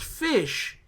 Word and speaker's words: Ghoti: it Ghoti I said it's pronounced fish how well the G a G and H make an F sound like in the word